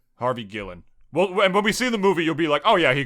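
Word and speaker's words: Harvey Guillén: that guy's name is Harvey uh do I pronounce it right Harvey goo Ellen Gillen Harvey Gillen Harvey Gillen well and when we see in the movie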